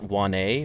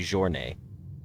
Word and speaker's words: Journée: It's even better, Kyle, because you would look at that person's username and think it's pronounced Juan-A or John-A, but it's actually Journée, which is even funnier.